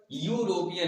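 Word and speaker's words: European: एन लगा दिया, लेकिन इसका प्रोनाउंसिएशन करके जब हमने देखा तो ई का उच्चारण यहाँ पर यूरोपियन, य के रूप में हो रहा है, इसका प्रोनाउंसिएशन व्यंजन में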